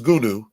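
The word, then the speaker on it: Goonew: Goonie Goo Goo. No, his name is Gunu.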